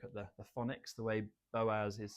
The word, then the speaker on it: Boaz: Bose? Could you say boat? No, it's Boaz.